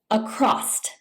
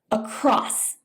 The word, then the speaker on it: across: Some English speakers pronounce it across by adding a T sound at the end. It is actually pronounced across.